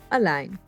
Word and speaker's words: allein: all alone by yourself a line but don't worry we won't let it get depressing a line a line a line the e i combo will always be pronounced as i i align meaning alone by